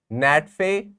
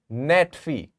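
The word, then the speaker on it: NATFHE: a t fhe e you can call it Nat feay so it stands for National Association of teachers in further and higher education net fee this is how you pronounce it NATO stands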